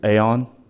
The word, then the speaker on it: AAON: The manufacturer is Aon. Aon? That's spelled AAON.